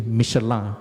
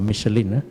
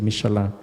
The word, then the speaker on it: Michelin: At that time, the MIB also produced in collaboration with Michelin, or actually the right pronunciation is actually Michelin, not Michelin, it's actually Michelin, to produce tire for aircraft.